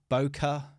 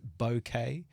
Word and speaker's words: bokeh: some people say uh boka some people say boket uh apparently the real the the the real way to say it the proper way to say it is bouquet um I I can't